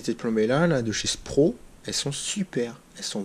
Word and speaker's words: Spro: Et donc, du coup, ces têtes plombées là de chez Spro, elles sont super. Elles sont vraiment au top. La marque, c'est Spro. S-Pro. Comme ça s'écrit.